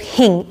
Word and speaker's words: hing: So it's spelled A-S-A-F-E-T-D-I-A. T-I-D-A, sorry, asafoetida, and it, in the Indian language it's called hing, H-I-N-G, which is a lot simpler and easier to remember.